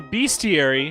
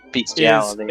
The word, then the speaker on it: bestiary: So a bestiary is Bestiality. a description Bestiality. Bestiary. Yeah, that's how you spell It's- bestiary.